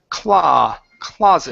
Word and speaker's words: closet: Now this last word here instead of clo closet the word is claw closet.